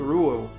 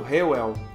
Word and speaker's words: Reuel: os efeitos desse vídeo eu vou usar mais a pronúncia em inglês que seria algo como rual eventualmente eu posso falar o aportuguesado o réu em quatro de janeiro